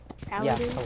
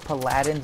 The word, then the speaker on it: Paladin: Paladin. You could call it Paladins if you want, but you'd just be pronouncing it wrong.